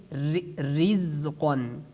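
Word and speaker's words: رِزْقًا: And like the next example, as you see on the screen, like we say rizqan, rizqan. We do not say ri, because the ra has a kasra at the bottom.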